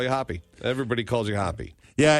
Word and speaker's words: Hoppe: that's incorrect right it's it's pronounced as if you saw the word spelled that way but it's with an E hoppy yes and the hoppy